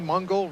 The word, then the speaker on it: Mungle: One of the guys I met last night, Kenny Mungle, rhymes with jungle, down from Houston, Texas there, where they've seen some rain lately.